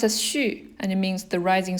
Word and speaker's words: 旭: It's pronounced as 旭, and it means the rising sun. In the winter, at 9 o'clock, that's when the sun rises. So 旭.